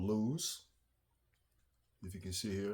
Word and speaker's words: Lew's: This is by a company called Lew's. If you can see here, that's how it's spelled.